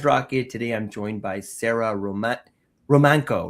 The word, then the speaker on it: Romanko: Today, I'm joined by Sarah Romanko. Right? I'm pronounced your name Yes.